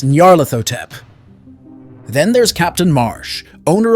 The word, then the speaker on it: Nyarlathotep: from Salem to serve Nyarlathotep in another dimension. Okay, sorry, I butchered that one. It's Nyarlathotep.